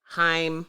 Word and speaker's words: Haim: contributions from Anderson Park Haim is how you pronounce on girls names H a I am high more him those chicks George Clinton